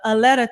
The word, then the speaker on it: Aletta: So early in the comments, your mother, Aletta Taylor, did I pronounce her? Yes, Aletta, great.